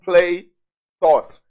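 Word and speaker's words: πλῆθος: the greek word plethos plato's pronounced play toss plato's or plato's means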